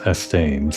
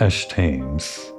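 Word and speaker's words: Eshtaime: H this whole time I pronounced it as EST tames in my head but I guess it's Esh tames and Esh tames athetics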